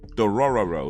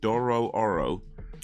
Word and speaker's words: Dororo: do oh watch oh Dorado uh so Doro dororo let me say it right Doro Oro been watching that um episode 12 I just